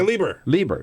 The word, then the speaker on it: Leber: Is that how you pronounce her name? Rebecca Leber. Leber, yeah.